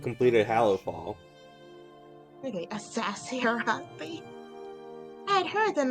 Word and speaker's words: Arathi: How do you pronounce Arathi again? Like that, Arathi.